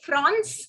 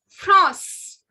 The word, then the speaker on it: France: spelling remains the same, only the pronunciation goes France, France. This has a nasal sound. Please don't say France, it is France, France.